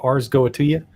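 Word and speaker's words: Ars Goetia: from the arseta go ars goatia goes. I don't know how to pronounce it. A R S G O E T I A. Ars goatia, I think, is probably what it is.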